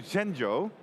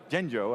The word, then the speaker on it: Zhengzhou: we can connect to genjo Zhengzhou I should say I've been practicing my